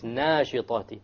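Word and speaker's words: ناشطات: They pronounce وَالنَّاشِطَاتِ maybe وَالنَّاشِطَاتِ, which is a mistake. It's nashitati. Okay? Nashta, once again, should be heavy, because the letter before it is heavy.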